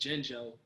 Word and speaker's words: Jinjo: Now, it's not really a big question, but you see, my name is Jinjo, and the N is silent.